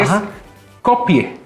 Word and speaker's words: Skopje: macedonia del Norte que es copie es copie así se pronuncia en español se escribe copque o copg pero es copie se encuentra en el